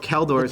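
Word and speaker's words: Kjeldor: Is it Keldor? King of Keldor. The J is silent.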